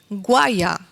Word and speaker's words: guaya: controlar su posición dentro de la esclusa, que se escribe con G-U-A-Y-A, guaya.